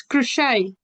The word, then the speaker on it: crochet: on your mic and tell me how to pronounce a It's crochet.